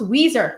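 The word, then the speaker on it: Ouiser: So it's pronounced Weezer. That's the pronunciation. I remember that. Nurse Weezer. And where is that originated from? She says, think steel magnolias.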